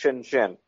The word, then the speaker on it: Shenzhen: And the one that's most famous is Shenzhen, pronounced Shenzhen.